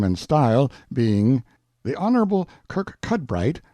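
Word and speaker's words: Kirkcudbright: style being The Honorable Kirk cudbright Lanover Marjorie Banks sellers Viscount Berkeley of charmandali Castle Warwickshire pronounced kacubri slanover Marsh Bank sellers VI count Barkley of Chumley Castle Yorkshire he is standing by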